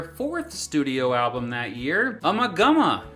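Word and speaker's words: Ummagumma: studio album that year umagama also may be pronounced umaguma released by Harvest records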